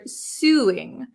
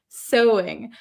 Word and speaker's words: sewing: she pronounces this word suing but that is not how we pronounce it in English right Su actually this is pronounced so so so it's very uh very strange spelling right soing sewing I have a knack